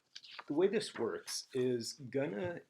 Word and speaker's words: gonna: way this works is Gunna is a spoken form of going to and going to often is pronounced as Gunna and when that happens